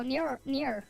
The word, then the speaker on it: Nier: Wait, how do I spell it? Wait, no, it's N-I-E-R. Yeah, here we go. Near, right here.